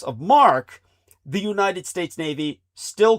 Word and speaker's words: marque: If the nation state issues letters of mark, which is spelled mq ue, most people would mispronounce it. But if a nation were to issue letters of marquee or letters of mark, uh you can legally conduct privacy.